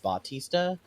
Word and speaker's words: Bautista: That man, oh god, that man is like, that man, Dave Bautista, so of course his real name is his name is pronounced Bautista, but for some reason, because it's WWE and they're very America centric, they changed his name to Batista.